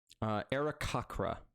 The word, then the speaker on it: Aarakocra: How do you pronounce their name? Aarakocra.